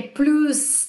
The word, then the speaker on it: plus: Vai aprender também que é plus de, aqui eu vou pronunciar o S, né?